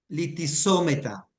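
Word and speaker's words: λυθησόμεθα: Recordé que tiene un acento allí, Ah, sí, ¿verdad? un acento grave. Litisómeta. Tal cual como en el español, en la vocal y en la sílaba donde esté el acento, allí se hace la fuercita.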